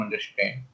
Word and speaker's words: understand: go and make him understand. Okay. Right. So make him understand is very good word. You can use this anywhere. Right. अंडरस्टैंड. Yeah. So here, stress is at It's third syllable.